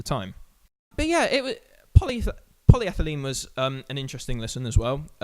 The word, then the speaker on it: polyethylene: The standout tracks on this EP, apart from Airbag, would be Polyethylene. Yes, I have pronounced that right.